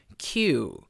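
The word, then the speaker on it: queue: 쓰고는 라인 이라고 하죠 나인 발음은 다시 한번 키 유우 키 유 그냥 q 라는 알파벳을 있듯이 키우라고 해주시면 되겠습니다 자 그래서 전부 q 라는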